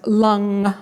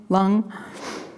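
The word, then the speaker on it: Lam: uchi which is pronounced lung like rhymes with tongue lung so as you continue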